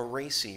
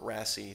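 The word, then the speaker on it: RACI: a Reacy or Rasi depending on how you want to pronounce it.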